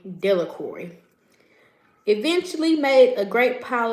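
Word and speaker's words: Delacroix: The villagers pronounced his name Delicory.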